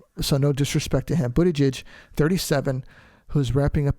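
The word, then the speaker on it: Buttigieg: hearts pronounced last name his name is Pete Buddha judge I'm pretty sure I said that correctly because I looked it up and I and I practiced it a few times before I got on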